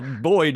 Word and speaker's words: Boyd: to pronounce that well Boyd is my middle name b y d so I you say J Boyd long j b o